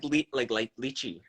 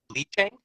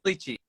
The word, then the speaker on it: lychee: you said leaching? I don't know how you say it. It's Lychee, I think it's lychee.